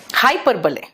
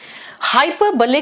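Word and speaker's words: hyperbole: हाइपरबले, ध्यान से सुनना बेटा। हाइपरबले को हाइपरबोल भी बोलते हैं कुछ लोग, है ना, लेकिन इसका प्रोनाउंसिएशन हाइपरबोल नहीं है, हाइपरबले है।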